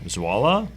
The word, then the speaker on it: Zwolle: pronunciation. Zwolle?